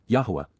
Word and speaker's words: Yahowah: scoffs C imp perfect Yahweh yahwah the proper pronunciation of the name of eloah God as directed in his Torah teaching regarding his higher